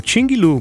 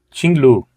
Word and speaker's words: QINGLV: Pois é, essa, pelas pesquisas, é a pronúncia mais próxima deste nome, Tinglu.